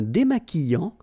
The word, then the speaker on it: démaquillant: So we've got this QU, but then U is not pronounced. So you get the sound qui. Okay, and then remember, double L after E will give you the sound y. Démaquillant. Final T not pronounced.